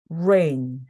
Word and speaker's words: rain: 나오면서 레이 되는 겁니다 여러분께서 그냥 레인 레인 하시게 되면은 바로 달리기 할 때 레인 수영할 때 레인 있죠 그 레인이 돼요 그래서 rain 하고 발음해서 혀를 입천장이 닿지 않도록 레레이 됩니다 자 그리고 s s